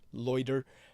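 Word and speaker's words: Leuder: you're looking for him his name is spelled l-e-u-d-e-r loiter uh Brett loiter and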